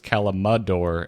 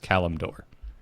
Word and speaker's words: Kalimdor: full version is just Kalimdor, or have I just been pronouncing it wrong forever? I've been pronouncing it wrong forever. There is no A between the M and the D.